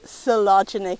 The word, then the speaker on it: Coelogyne: Well, I'm here to tell you it's pronounced Coelogyne, despite what the letters may indicate.